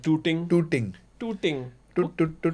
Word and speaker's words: Tooting: Yeah, I want to get some water in tooting. yeah. So but because Indian Pakistan, we have to pronounce our tars right. That tooting.